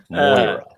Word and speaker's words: Moira: Oh, also, Um, Patrick, good job pronouncing Moira. I'm trying really hard. I'm trying really hard. You did it right. Moira. All right, issue Moira.